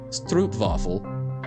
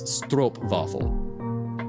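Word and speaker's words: stroopwafel: vowels that modify sounds if it was spelled with an OE it would be sto vaffle but it's not it's stro vaffle gotcha if you want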